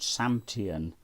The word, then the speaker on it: SAMTIAN: I'm going to pronounce it SAMTIAN, S-A-M-T-I-A-N, SAMTIAN CS B1.